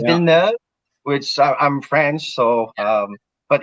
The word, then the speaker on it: Villeneuve: So it's actually pronounced Villeneuve. Villeneuve? We're saying Villeneuve. Well, it's French, right? So it's Villeneuve, which I'm French.